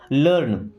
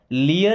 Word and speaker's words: learn: लर्न इसे लियर नहीं पढ़ते क्या पढ़ते हैं? लर्न लर्न लर्न का मतलब होता है सीखना।